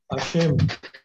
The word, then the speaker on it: Hashem: Hashem. Hashem. Hashem. H-A-S-H. Hashem Listen the spelling. H-A-S-H. Then S-H-E-M. Hashem.